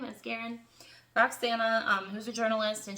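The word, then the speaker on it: Asgarian: and it is by Roxana Asgarin, I believe is how you say her name, Asgarin.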